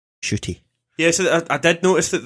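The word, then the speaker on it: Ncuti: idea how it was i thought it was in cutty when i first seen it but yeah i watched an interview and it's shitty so i apologize for pronouncing it wrong shooty yes i did notice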